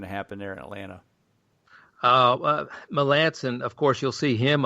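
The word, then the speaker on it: Melancon: Melicon? Is that how I always forget how you pronounce it? Melanson. Melanson. Oh, jeez, I wasn't even close.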